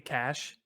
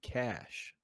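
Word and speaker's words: cache: cash it's c-h-a-c-h-c-a-c-h-e yeah I spelled it wrong like three times c-a-c-h-e cash c a c h e cash yeah that's how you say it spell it one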